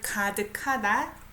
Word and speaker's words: 가득하다: Look up the verb 가득하다. And underneath makes an adjective to describe noun, right? 가득하다. I pronounce it as K sound.